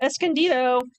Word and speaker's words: Escondido: Escondido. Escondido.